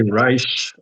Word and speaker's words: Reich: Americans say Rich, but in Germany you would say Reich.